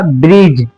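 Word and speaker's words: bridge: जैसे ए जज ब्रिज हिज जैसा कि डी के बाद जैसे ही जे आया तो हमने डी को साइलेंट कर दिया। इसको हमने ब्रिज ही नहीं पढ़ा। हमने इसको पढ़ा ब्रिज।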